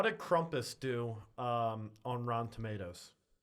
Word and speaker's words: Krampus: it was like a um how do you pronounce that? It's like the evil version of Santa Claus. Crumpus.